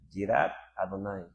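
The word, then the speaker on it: יראת אדוני: El concepto hebreo relacionado es, si lo quieres escribir a español usando letras español en hebreo este se pronuncia jirat adonai con con y jirat y id.r Rat y Adonay.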